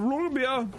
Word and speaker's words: Roggenbier: We're debating on how to say it, and it's like, just run it together. Oh, yeah, have a Roggenbier. Roll the R and say it like Dieter.